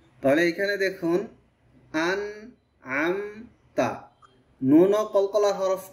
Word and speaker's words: أنعمت: আন হচ্ছে হামজা আর পরে এটা হচ্ছে আইন, একটু খেয়াল করব।